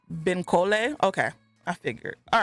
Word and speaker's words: Bankole: The audiobook I listened to, it's pronounced Benkole.